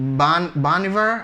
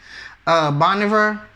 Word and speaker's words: Bon Iver: I thought that this year they were going to give it to Bon Iver. I think that's how you really say his name, Bon Iver.